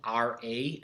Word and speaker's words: Ra: the son of rey now most times i've seen it spelled r a and pronounced ra ra the sun god some have ray the sun god and your history book spells ray this way so if you ever